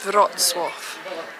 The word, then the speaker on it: Wrocław: There's a really hard pronunciation on this. It's Polish, and where are we off to? It's Wrocław.